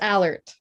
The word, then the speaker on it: Allert: But that's not actually how you say it, you guys. Here, you say it just because I feel like you're still going to say it better than me. It's Allert. See, it's so close, though.